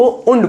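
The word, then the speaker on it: und: उंड बोलते हैं। बहुत बढ़िया कनेक्टर है ये। जर्मन में एंड को उंड बोलते हैं।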